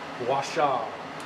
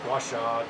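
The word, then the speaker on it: gua sha: helped me was a technique called washa but g-u-a-s-h-a washa different spellings but different pronunciations but that's what i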